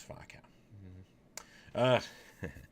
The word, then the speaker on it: Faux Cow: It's Fa. So it's Fa Cow.